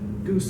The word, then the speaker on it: GOOS: And these are Goose and Gorch, and apparently those are the official ways of pronouncing those, FYI.